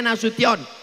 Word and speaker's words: Nasution: Cara bacanya Nasution. Karena ada orang naik pesawat sampai di airport transit dipanggil namanya orang orang metu. Kenapa? Dia salah dengar waktu dipanggil nasu sessionation. Bapak Jenderal Kaharuddin Nasution jadi gubernur Riau.